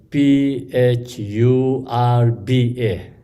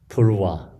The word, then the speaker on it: Phurba: English we have Phurba, Purva. Sometimes we say Purpa, Purva, and something like that.